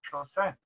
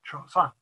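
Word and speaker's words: 朝鮮: of Korea, where the country was called Chosen, the Japanese pronunciation of the Chinese characters read Chosun in Korea.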